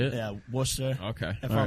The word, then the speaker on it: Worcester: Yeah, Worcester.